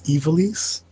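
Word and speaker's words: Ivalice: And it's just also, see, I don't want to correct you and stop me from being mean, but it's Evilise.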